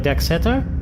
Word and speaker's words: Decksetter: Do I have your last name wrong? I thought it was No, Pleck that's Decksetter?